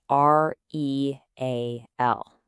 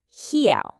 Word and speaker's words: real: Take the Portuguese word spelled R E A L. Your English-speaking brain immediately wants to read that as real, right? But that's totally wrong. It's actually pronounced something more like he.